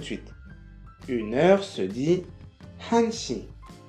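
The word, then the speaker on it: 한 시: ou 4 perdent leur lettre finale pour une prononciation plus fluide. On va revoir ça tout de suite. Une heure se dit hanshi, hanshi.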